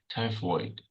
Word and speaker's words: typhoid: typhoid, Tai. Tai. yeah, Tigh. Tai. Like void. Typhoid.